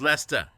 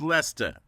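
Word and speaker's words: Leicester: the temps exactly and it's not Lester Square it's Lester Square it's Lester um two syllables don't let all the letters just fool you yeah it's just Lester um so we were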